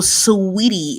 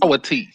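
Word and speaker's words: Saweetie: If you look at the spelling, that's what it says. It's sour tea. Yes. Sour tea. It's Sweetie.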